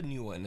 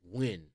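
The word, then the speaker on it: Nguyen: wild to me shoulder Tik Tok user Alicia Newan is alone in her bathroom to record a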